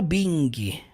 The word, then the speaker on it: being: Todo verbo que termina com ing, você não jamais, never pronuncia a letra G, tá? Você não fala being, tá? Being, termina no som do N.